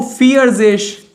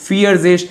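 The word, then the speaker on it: vierzig: पहले द्राय और 40 को फियरिश। 40 को फियरजेश।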